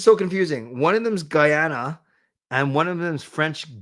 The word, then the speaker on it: Guyana: Is it Guyana? Guyana.